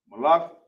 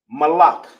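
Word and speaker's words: מלך: We're on Malak. Throw out the other one. All right. Malak in the Hebrew is Ma.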